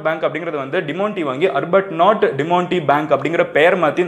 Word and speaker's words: Arbuthnot: எப்படி நான் ப்ரொனவுன்ஸ் பண்ணிக்கோங்க, அர்பட் நாட் பேங்க் அப்படின்னு வந்து நான் வந்து ப்ரொனவுன்ஸ் பண்ணுறேன்.